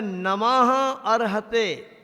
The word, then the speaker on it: नमः अर्हते: नमो के बाद जो हा के ऊपर रेप है ना वो पढ़ेंगे। साइलेंट है आ, वहाँ पे आ का लोप हो गया है, तो उसको हम जब संधि को तोड़ देंगे तब लगेगा नमः अर्हते। नमः विसर्ग है वहाँ पे, नमः अर्हते ऐसा है।